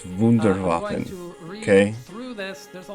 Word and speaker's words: Wunderwaffen: You're not even saying it right. It's Wunderwaffen.